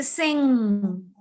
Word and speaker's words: sing: G is silent here.